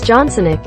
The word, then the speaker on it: Johnsonik: and humorously as Boris johnsonik a Ukrainian sounding surname if you put a stress on the last syllable the Ukrainian leader praised